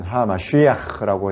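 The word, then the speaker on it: המשיח: 그리스도라는 말은 메시아라는 말이고, 히브리어로 굳이 발음하자면 하마쉬야흐라고 해가지고 기름 부음을 받은 자 이런 뜻이고, 그것은 곧 하나님이 세우시는 왕이다 이런 뜻이에요.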